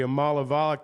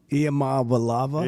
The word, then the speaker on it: Iamaleava: Now, the Amalavala kid and I know I'm mispronouncing it, I'm going to have to learn to say it. Iamaleava.